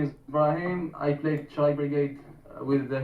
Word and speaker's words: Brahim: Am I pronouncing that correctly? Brahim? Yes, that's correct.